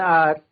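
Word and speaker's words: hour: यह स्टार्ट तो हमारे एच से हो रहे हैं। बट यह साउंड किसका देंगे? साउंड वोवेल का आता है। जैसे ऑनेस्टी, आर। ठीक है? ये हमारा क्या है? इसमें आप एक तरीके से देखें तो एच जो है हमारा एच साइलेंट है।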